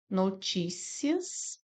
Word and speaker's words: notícias: notícias. Aqui nós temos uma paroxítona. Paroxítona. Por quê? Porque a sílaba tônica é o ti.